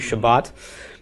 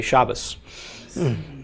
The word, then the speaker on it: Shabbat: we say Sabbath okay Jews and Israel say to Shabbat in an Orthodox Jews speaking Ashkenazi guy like let's say Shabbos okay so here all three none of them is correct or incorrect they are different dialects okay although it has